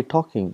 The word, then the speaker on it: talking: For example, in English we got, for example, talking, we say talking, but when you write, we write L, tall king, but we don't pronounce L.